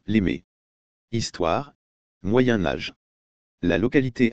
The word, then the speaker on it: Les Mées: thiery au siècle dernier les habitants de la région prononcer les mais avec un s sonore la miss aimant de la finale amorcée dès les années 1960 domine nettement aujourd'hui 2004 on dit actuellement les mes histoires moyen âge la